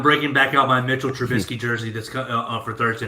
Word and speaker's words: Trubisky: for i'm like dude it's like biscuit dude like trump biscuit he's like he's a biscuit i'm like no man that's just how you like pronounce his name it's like a biscuit like trubisky biscuit oh okay okay okay